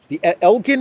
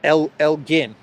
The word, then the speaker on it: Elgin: There still is a lot of talk about the Elgin marbles. Everyone says that it's pronounced Elgin, even though I was pronouncing it Elgin.